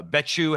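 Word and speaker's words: Becciu: who eventually got arrested was it Cardinal uh betu am I pronouncing his name correctly you you are pronouncing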